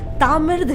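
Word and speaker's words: தமிழ்: पर इसमें भी एक बात बताऊं, बहुत कम लोग ये जानते हैं कि तमिल को एक्चुअली तमिल कहते ही नहीं है। इस वर्ड का करेक्ट प्रोनाउंसिएशन तामिर्द है।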